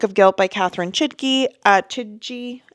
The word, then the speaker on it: Chidgey: Chidgey, I think is actually how you pronounce it. I don't think the G is a hard G.